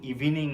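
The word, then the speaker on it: evening: দা afternoon বিকেলে ইন ইভিনিং এখানেও একটা উচ্চারণের ব্যাপার আছে আসলে এটা কিন্তু ইভিনিং নয় ইভনিং তার মানে আমাকে এভাবে দিতে হবে ইভনিং ওকে ইভিনিং নয় এভাবে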